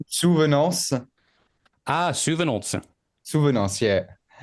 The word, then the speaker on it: Souvenances: Yeah, maybe it's difficult, the A-N before the C. Yeah. Like I used to teach French to foreign people, and usually people, it's difficult to the A-N because they pronounce the N, but you don't have to pronounce it.